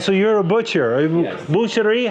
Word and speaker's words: boucher: Boucherie, how do you say? In French, we say boucher.